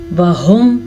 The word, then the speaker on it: وهم: وهم، ہا کے تلفظ کا دھیان رکھنا ہے اور واو کے پہ زبر ہے، زبر کو کبھی بھی کھینچ کے نہیں پڑھتے.